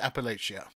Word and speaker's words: Appalachia: what what even is Appalachia well number one you have to say it correctly Appalachia Appalachia Appalachia gotcha I thought that